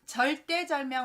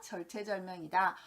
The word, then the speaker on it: 절체절명: 발음이 한자가 발음이 우리 한글 발음이 비슷비슷하기 때문에 이런 오류를 범하지 않나 싶은데요. 오늘도 좀 유익했나요? 보세요. 절대절명 아닙니다. 절체절명이다.